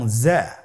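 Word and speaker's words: زاي: তে নুক্তা ছিল না যা এর উপর একটি নোক্তা রয়েছে কতই সহজ তাহলে হরফটির নাম কি যা আবার বলুন যা উচ্চারণ করার সময় অবশ্যই এক আলিফ টেনে পড়তে হবে।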